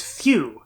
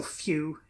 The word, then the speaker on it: Fu: say his name is phew which is in Japanese this is pronounced well essentially it's the same as in fusion well they write the